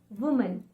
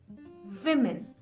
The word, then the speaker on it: women: I have heard people saying this woman, reading it as woman.